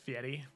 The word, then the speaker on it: Fury: Actually, their name is pronounced Fieri. That's true. Sorry. They're from Siri, so people always mix up the way it's pronounced.